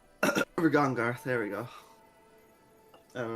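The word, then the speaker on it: Regongar: I can't pronounce that for some reason. Ragongar. Rigongar, there we go.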